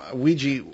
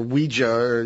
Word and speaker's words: Ouija: I've always thought the name Ouija, or Ouija, as you pronounce it, you pronounce it the way it looks, we, French for yes, ya, German for yes.